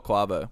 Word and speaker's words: Quavo: Is it Quavo or Quavo? Yeah, Quavo. Quavo. I knew it.